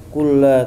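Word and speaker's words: كُلَّ: Iya, kulla bukan kulli, kulla ya. Itu salah, kulli. Kalau di bawah tasdid bacanya kasrah, tapi yang benar di sini di atas kasrah, di atas tasdid, afwan.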